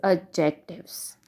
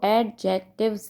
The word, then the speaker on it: adjective: अब इसमें आपने जो डी लिखना है, जो डी वर्ड है वो साइलेंट है। आपने इसको एडजेक्टिव्स नहीं बोलना, बल्कि इसको आप बोलेंगे एडजेक्टिव, राइट। यानी कि ए को हम ए की साउंड में हम करेंगे एडजेक्टिव और डी इसमें साइलेंट होगा, राइट।